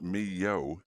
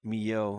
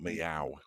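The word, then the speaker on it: Millau: tell your co-presenter oh that it's pronounced me yo Mio okay not meow like a cat I said milao yeah not Mill ow it's me yo yeah no not if you're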